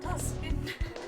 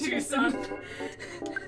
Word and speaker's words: Twoson: For the first couple times you said Twoson, I was like, it's pronounced Tuscan. But I wasn't like paying attention to anything. And then you're like, oh no, it It is Twoson.